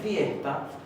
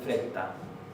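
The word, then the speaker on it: frétta: Vad att friesta, fíjense que hay otro diptongo, friesta, y la doble T se va a pronunciar como HT. Ad friesta, no se va a decir fresta, ad friesta, Frau Canada.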